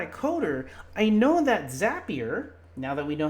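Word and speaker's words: Zapier: if you're not a coder I know that zappier now that we know how to pronounce it we know that zappier has a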